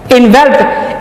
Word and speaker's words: envelop: Pronounce करते हैं, जबकि एनवेल्प एक और लफ्ज है जिसमें ई नहीं आती, वो होता है ENVELOP। ये वर्ब है इनवेल्प।